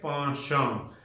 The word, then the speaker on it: penchant: Iska actual pronunciation hai ponchon. Okay? It means inclination, liking. Theek hai?